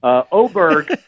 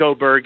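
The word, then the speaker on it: Åberg: And he said, also, I think it's kind of cool how all the hockey players like Forsberg, they have a hard G at the end. I want a hard G too.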